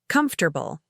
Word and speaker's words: comfortable: But listen to how we really say it. Comfortable. It's like some of the sounds just disappear and blend together naturally.